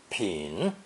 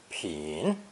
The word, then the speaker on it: 品: Pronounced 3rd tone, 品, 品.